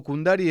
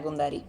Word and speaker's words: Cundari: Gina, primero, ¿pronuncio bien tu apellido? Kundari, ¿está bien así? Sí, perfecto, Gina Kundari.